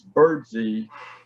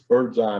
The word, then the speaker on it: Birdsey: and by the way his family pronounces his name james birdsey mcpherson not james birdseye mcpherson that we might do but the family